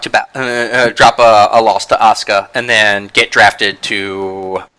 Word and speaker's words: Asuka: to to say her name because I always mispronounce it Saka yep Asuka ASA wow I even failed that fail class